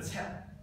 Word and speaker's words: 七: 然后七就是切。切就是 QIE，你试下第二声切，那差不多切，不，你稍微不要把切读成这样，就切读快一点。